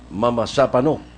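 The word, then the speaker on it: Mamasapano: Awakindana sir Malaya Mapanu Mama Sapano that's the way they pronounce it in Mindanao that's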